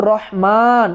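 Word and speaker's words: الرحمن: রহমান যখন আমি বলব তো আর রহমান লেখার ক্ষেত্রে যদিও র হা তারপরে মিম নুন চারটা হরফ কিন্তু রহমান উচ্চারণে কিন্তু পাঁচটা হরফ চলে আসছে কারণ মিম এর পরে এখানে একটা আলিফ আছে কিন্তু কোরআনের ভিন্ন রকমের ভাষারীতির কারণে আলিফটা এখানে লেখা হচ্ছে না।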